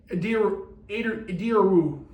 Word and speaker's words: Ediru: Believe me, I pronounced that name wrong apparently the first couple times the whole season, and then I watched a little bit of it, and that's actually how I pronounce his name, I guess.